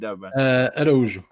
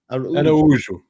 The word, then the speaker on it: Araújo: So the O is silent. Araujo. No, sorry, the O in the end. Say it again. It's so the Portuguese accent is a bit close, the vowels. So it's more subtle.